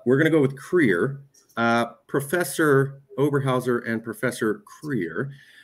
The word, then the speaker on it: Krier: Yeah, I mean, if you wish, you could do a more Germanic pronunciation of my last name, Krier. We do it, Krier.